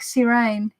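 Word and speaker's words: Sirène: Serene from Tower Di Marseille is pronounced more like Sirene.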